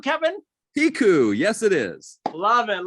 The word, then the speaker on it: Piecuch: the famous Meds by Attorney Kevin is it pronounced piku Kevin piku yes it is love it love it love